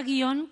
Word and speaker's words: guion: darnos cuenta de que nosotros pronunciamos la palabra guion como una palabra bisílaba Pero hay muchísimos hispanohablantes